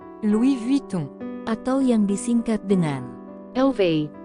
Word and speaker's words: Louis Vuitton: Louis Vuitton ini yang apabila diucapkan dalam bahasa Perancis menjadi Luis vuing atau yang disingkat dengan